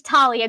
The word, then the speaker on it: Thalia: because you named your child rick riordan name's Talia grace so Rick Riordan is the one that I listen to would find to pronounce her name but that's how you pronounce